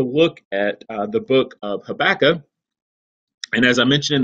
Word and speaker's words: Habakkuk: how to pronounce it in the South we say hey Becca I think the farther south you go the less of a K there is on the end of it so you might hear